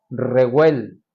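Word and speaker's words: רגל: Dice el pie, la palabra hebrea es reguel o reguel, acento en la E, primera. Y esas partes del pie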